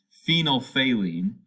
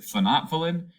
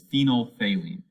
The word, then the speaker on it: phenolphthalein: like just a collection of consonants but it's phenol phalene uh some times in my life i've heard people pronounce it phonothalin but that sounds kind of weird so i've always heard it as phenolphthalein so phenolphthalein is colorless in the presence of